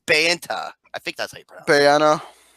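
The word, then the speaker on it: Bayona: pronounce the last name I keep saying Bayonetta it's it's Banta I think that's a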